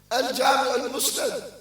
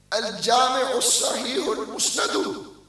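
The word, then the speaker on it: الجامع الصحيح المسند: He said, Sahih Hadith, Al-Jami' al-Musnad. No. Al-Jami' al-Sahih al-Musnad min Hadith Rasulullah sallallahu alayhi wa sallam wa sunanihi wa ayyamihi. That's how you say the name, my brother.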